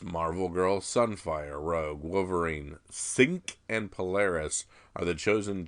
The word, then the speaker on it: Synch: Is the other one, is it Synch, S-Y-N-C-H, Synch, which is what I do with a backpack?